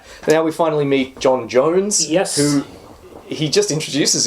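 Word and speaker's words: J'onn J'onzz: In the comic, it's spelled J apostrophe O N. J apostrophe o zed zed. Yeah. And it's like, oh, it's some weird alien name. Yeah. Um, but happens to be pronounced Jones.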